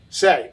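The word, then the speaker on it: Seay: brian how do you say brian's last name say okay s-e-a-y that's i was never sure if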